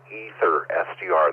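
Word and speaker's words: AetherSDR: Ether SDR, that's spelled AETHER SDR.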